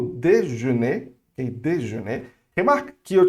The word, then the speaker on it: déjeuner: Ela é um E fechado. Então, déjeuner, ok? Déjeuner. Como é que você vai fazer ela? Você vai não abrir muito os lábios, ok? Não vai abrir E, assim, vai abrir só